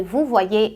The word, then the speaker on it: vouvoyer: O Y em francês, na maioria das vezes, ele é pronunciado como um I. Guarda em mente que em palavras onde ele vem depois do A ou do O, você considera como se fosse um duplo I, tá?